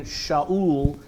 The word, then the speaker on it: Shaul: We get to see a little bit about who this man, Shaul, is how a Hebrew would say his name, Shaul.